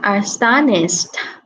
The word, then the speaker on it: astonished: Rồi, còn cái từ này mình đọc là astonished. ED này sẽ được phát âm là th.